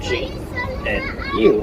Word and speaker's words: gnu: Now, another name for wildebeest is gnu, and it's spelled G-N-U, and that actually refers to the sound they make. Now, the G is silent, so it just sounds like gnu.